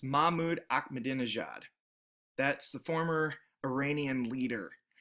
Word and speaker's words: Mahmoud Ahmadinejad: gave you, I bet you'd be able to pronounce it or come pretty close. It's Mahmoud Ahmadinejad.